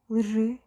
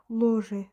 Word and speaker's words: лжи: Лжи, yalanlar. Ложи değil de лжи oluyor. Çünkü işte eğer sözde bir heca varsa o zaman hemen o ünlü harf düşüyor. Sonra olduğu gibi de telaffuz ediliyor.